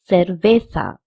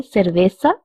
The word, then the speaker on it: cerveza: Actually, over here, CE is pronounced as se also and se also. In Spanish, the CE pronunciation is not que, but se or se. So we can say cerveza or cerveza because both CE and Z have the pronunciation of th.